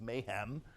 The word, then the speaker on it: MHAAM: of the ancient Mediterranean which as many of you know is pronounced by many people as Mom and by me is Mayhem and it just it